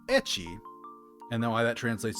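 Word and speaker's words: ecchi: naughty um the word etchy itself is actually a pronunciation of the first letter of hentai H in the Japanese language H so basically that's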